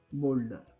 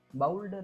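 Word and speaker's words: boulder: असा उच्चार झालेला आहे बोल्डर बोल्डर बाल्डर नाही बोल्डर शोल्डर सोल आणि बोल्डर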